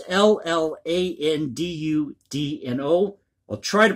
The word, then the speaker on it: Llandudno: And forgive my pronunciation here, it's L-L-A-N-D-U-D-N-O.